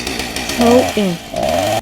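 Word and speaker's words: Samhain: Their year ended in October 31 and the night was called Smith, pronounced throw in.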